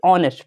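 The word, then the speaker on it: honest: बच्चे कहते हैं भाई हॉनेस्ट लिखा है, तो हॉनेस्ट नहीं होता, इसको पढ़ा जाता है भाई ऑनेस्ट। ठीक है, ओ से स्टार्ट करते, एच साइलेंट रहता है तो ऑनेस्ट पढ़ते हैं।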